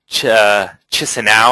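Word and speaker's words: Chișinău: I want to see if there's anyone that's been to Chisinau. I think it's how you pronounce it in English. It's Kishinev in I guess Moldovan and Russian.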